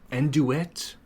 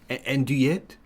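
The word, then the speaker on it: andouillette: Enduet. Or is the French PR the French pronunciation is supposed to be anduet anduette. I guess it is a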